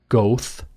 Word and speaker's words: Goethe: way, from Goethe, same Goethe University. You'd pronounce it, if you are not into the German, Goethe, Goethe. Goethe wrote the play Faust,